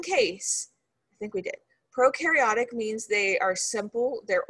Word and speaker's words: prokaryotic: okay so bacteria they're prokaryotic so pro rhymes with no that means they have